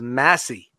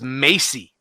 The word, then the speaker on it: Massey: my name I'm sorry my last name is Massey so she'll be hate mail but everybody pronounces as Maisie so I'm a department